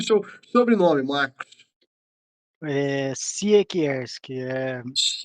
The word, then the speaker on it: Siekierski: Siekierski, polonês, Siekierski, polonês, lá polonês.